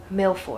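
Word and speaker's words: mille-feuille: on to our third treat I'm making some miloy I had to double check the pronunciation on that my French dual lingo has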